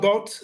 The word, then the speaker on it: Boot: So send them to my website, just Arnoud Boot, Dutch pronunciation, Arnoud with an D, Boot with an T, Boot in English, arnoudboot.nl, and you have it all together.